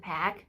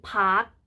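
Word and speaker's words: Paak: สิ้น โซนิค ก็ แอนเดอร์สัน แพ็ค นะ คะ ซึ่ง เขา ก็ ได้ บอก ไว้ ให้ สัมภาษณ์ ไว้ นะ คะ ว่า จะ ออก เสียง ว่า แพ็ค หรือ พัก ก็ ได้ มี แต่ แต่ สิ่ง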